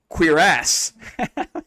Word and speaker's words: cuirass: And then according to Google, it said queer ass.